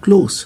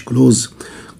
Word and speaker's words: close: close عكسها قريب، برضو نطقها close مش close. close دي لما تيجي فعل بمعنى يقفل، لكن close بمعنى قريب او nearby او neighboring.